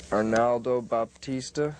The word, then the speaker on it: Arnaldo Baptista: Arnaldo Baptista. Is that how you pronounce his name?